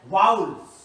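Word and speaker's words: vowels: एक होता है कॉन्सोनेंट एंड सेकंड जो होता है वाउल्स। अक्सर इसको लोग वोवेल बोलते हैं, बट ये रॉन्ग प्रोनाउंसिएशन है। इसका एक्चुअल प्रोनाउंसिएशन जो होता है वो होता है वाउल्स, है ना।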